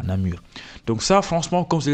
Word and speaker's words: Namur: université de mon université de Namour voilà Namur donc ça franchement comme